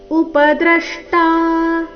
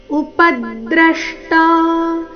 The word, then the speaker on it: ಉಪದ್ರಷ್ಟ: ದೇಹೇಸ್ಮಿನ್ ಪುರುಷಃ ಪರಹ ಉಪದ್ರಷ್ಟ ಇಲ್ಲಿ ಪ ಮತ್ತೆ ದ್ರ ಎರಡು ಅಕ್ಷರ ಅಕ್ಷರಗಳ ಮೇಲೆ ಆಘಾತ ಬರಬೇಕು ಉಪದ್ರಷ್ಟ ಅಂದ್ರೆ ಉಚ್ಚಾರಣೆ ಸರಿಯಾಗಿದೆ ಆದರೆ ಪ ಮೇಲಿನ ಆಘಾತ ಬರಲಿಲ್ಲ ಸೋ ಪ ಮೇಲಿನ ಆಘಾತ ಪ ಮೇಲೆ ದ ದು ಆಘಾತ ಯಾವ ರೀತಿ ಬರಬೇಕು ಗಮನಿಸಿ ಉಪದ್ರಷ್ಟ ಉಪದ್ರಷ್ಟಾನುಮಂತಾಚ ಭರ್ತಾ ಭೋಕ್ತ